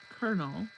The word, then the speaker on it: colonel: Colonel pronounced colonel. So C O L O N E L is pronounced colonel with an R.